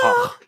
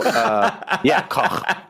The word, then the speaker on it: Koch: And in Germany they pronounce it Koch. So Koch.